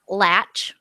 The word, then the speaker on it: Latch: I um we have a friend SL fan John latch who we have been calling John lock for literally six years years yeah we didn't I